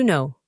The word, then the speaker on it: know: El siguiente verbo significa saber y puede significar también conocer, to know. En la pronunciación de este verbo, la primera letra no se pronuncia, no, y se usa en frases como por ejemplo, yo sé la respuesta.